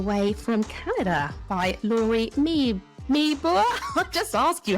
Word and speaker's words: Meeboer: today all the way from Canada by Lori me meor I just asked you how to pronounce that Lori I do I've even written it phonetically right Lori meore meore that closing off that's sorry Lori right welcome